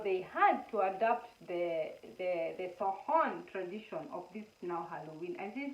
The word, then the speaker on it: Samhain: I'm really sorry, the Irish, the way they write their words and the way they are pronounced, it's totally different. It's called Samhain, not Samhain.